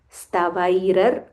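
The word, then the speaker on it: स्तवैरर्चन्: Pundarikaksham stavair stavair rar There is a ra followed by half ra. stavairar stavairar chain naraha stavairar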